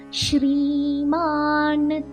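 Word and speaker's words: श्रीमान्: ஸ்ரீமான், ஸ்ரீமான் ஐக்கு மேல ஏக்கு மேல லைன் இருக்கு. ஸோ தீர்க்கமா ஸ்ரீமான்.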